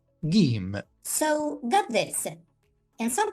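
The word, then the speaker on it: جيم: In most Arabic-speaking countries, people pronounce this letter as J, J, instead of G, G.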